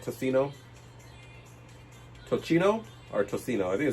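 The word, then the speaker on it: tocino: Is it to Am I pronouncing it right? Tossino. Toino or Tosino? I think it's Tossino, right?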